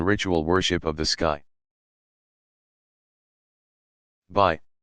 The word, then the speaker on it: bi: Although these circular pendants look like they could be worn as jewelry, they are much too bulky and heavy for such a purpose. Instead, they were likely used in ritual worship of the sky. Bi, pronounced B, discs were made of